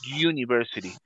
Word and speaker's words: university: Es un sonido como de consonante, como que si fuera una Y, ¿ok?